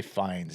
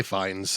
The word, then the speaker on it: Fiennes: How do you say Fiennes? Is it Fiennes? Is it I say fines.